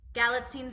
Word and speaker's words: Galitzine: career well done helps I practice galline sounds like magazine I watched I watched